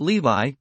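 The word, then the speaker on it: Lévis: There were in Madame Dei's salon some very venerable old noble women whose names were Mathan, no, Levas, pronounced Levi, and Cambis, pronounced Cambes.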